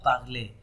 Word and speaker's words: parlez: nous parlons, and vous parlez. And you can also recall that if we have ez, then we have what sound, a sound.